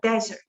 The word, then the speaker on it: desert: Into the desert. desert라는 단어를 주의하세요. 액센트가 앞에 있고요. desert 이렇게 되어 있어요.